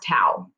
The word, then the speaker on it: tau: lowercase t it's a small capital t um pronounced tau um this this formula is r times f